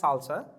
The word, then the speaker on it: SLSA: what salsa is now so salsa it's pronounced as salsa but it is slsa uh it the full